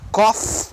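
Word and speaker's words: cough: mais sério um pouquinho na seqüência com a pronúncia é essa mesmo copo é tosse o verbo tossir o cafezinho ecof estão aqui koff o cafezinho koff ok totalmente diferente chinês chinês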